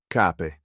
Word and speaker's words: cape: In the third conjugation, the singular ends in a short E, but that E shifts to a short I in the plural. Listen for the change.